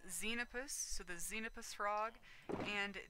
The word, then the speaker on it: Xenopus: this give me a second okay so it's xenopus so the xenopus frog and the tree frogs